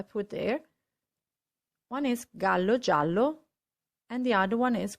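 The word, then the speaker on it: giallo: also in the meaning gallo means rooster whereas jallo means yellow so the way you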